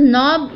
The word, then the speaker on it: knob: Then this is नॉब यानी गैस का नॉब होता है या किसी चीज़ का नॉब होता है जहाँ से वो चीज़ चालू की जाती है, सो KNOB यानी कि नॉब। के साइलेंट रखिएगा।